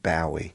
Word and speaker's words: Bowie: I was talking about the different pronunciations in America and England. So, there's like David Bowie.